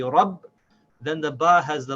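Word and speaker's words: رَبّ: So we connect the ba with the ra as rab, rab.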